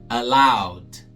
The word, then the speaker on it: allowed: Allowed, allowed. Na opção A, significa permitido, né? O passado do verbo to allow. Esse E aí é mudo.